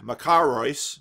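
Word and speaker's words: μακάριος: Beatitudes, makarios in Greek, makarios, you see the accents on the second syllable, is first found in the work of Pindar, 522 or 518 BC.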